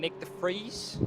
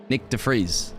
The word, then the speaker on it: Nick de Vries: You mean Nick de Vries? Yes. That's actually a really nice name to pronounce for you UK guys. Nick de Vries, is it?